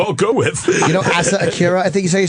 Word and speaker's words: Asa Akira: You know Asa Akira, I think you say her name? Yeah, Asa Akira.